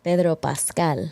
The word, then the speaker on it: Pedro Pascal: Pedro Pascal.